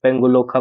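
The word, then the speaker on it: Pangolakha: बात करते हैं नोरा वैली की, तो नोरा वैली में तो ये पेंगुलोखा वाइल्ड लाइफ सेंचुरी जो है, एग्जैक्टली इसका प्रोनाउंसिएशन पेंगुलोखा वाइल्ड लाइफ सेंचुरी है, ठीक है।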